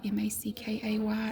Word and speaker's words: Mackay: We even have Mackay Road, Mackay. It's pronounced Mackay.